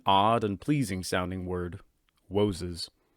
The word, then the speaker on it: Woses: Woses. It's like you're mispronouncing it, but you're not.